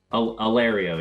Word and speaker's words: Allerio: Allerio? Allerio, yeah.